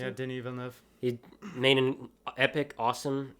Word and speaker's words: Denis Villeneuve: Yeah, Denis Villeneuve.